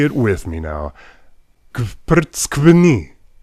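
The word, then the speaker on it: გვფრცქვნი: it with me now, kvrtskvni. Yes, that is one single syllable. It means you peel us, and it starts with you pronouncing a bunch of consonants before you get any relief with that vowel.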